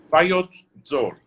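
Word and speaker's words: Vayots Dzor: Tell me how to pronounce that. Bayot Zor.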